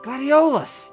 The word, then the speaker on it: gladiolus: know how they're pronounced uh gladia what gladiolus that's the way you pronounce it also known as the